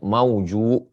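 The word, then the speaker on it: موجوء: Al-mauju'u yakni bi dhammil jim, cara membacanya mauju, wa bil hamzi, ada hamzahnya di ujung.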